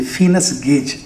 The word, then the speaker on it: Phineas Gage: దీని బ్యాక్గ్రౌండ్ చెప్తాను, somewhere 1848 ఆర్ సో, ఒక వ్యక్తి, his name is Phineas Gage, Phineas, P-H-I, Gage, G-A-G-E, Phineas Gage, that's how it is pronounced.